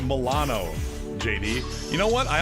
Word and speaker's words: Milano: man i love the millennium those are my favorite it's like on uh scrubs just like it's pronounced milano jd you know what